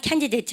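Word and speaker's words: candidate: 여러분 , 이 단어 의 강세 에 주목 하세요 . " 후보자 " 라고 말 할 때 는 항상 " 캔디 데이트 " 라고 발음 합니다 .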